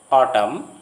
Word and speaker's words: autumn: If a word ends in MN, the N is not pronounced as in these familiar words coming to your screen. Autumn, column, dam, condemn.